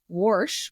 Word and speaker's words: wash: For you that don't know, warsh with an R is how some people pronounce wash.